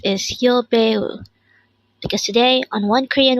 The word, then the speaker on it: 여배우: This is pronounced as a three-syllable word. The first syllable is yo, second syllable is be, and third syllable is u.